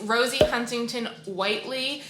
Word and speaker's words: Rosie Huntington-Whiteley: start with the application i think i just said her name wrong in that first clip it's rosie huntington whiteley um and this will